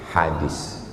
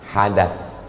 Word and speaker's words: hadits: Yang ingin kita pelajari pagi ini adalah hadits . Dengan 'tsa'. Jika Anda menggunakan pengucapan lain, itu adalah 'hadas'.